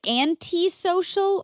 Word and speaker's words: antisocial: Okay, is it antisocial or antisocial? According to the general pronunciation online, when you type in how to pronounce and that thing comes up, it's anti-social. Antisocial. Yeah. Oh, like my Aunt Social. But I would have said anti.